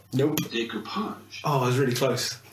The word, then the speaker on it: decoupage: That's not how you pronounce it. No. You fucking idiot. Decoupage. Nope. Decoupage.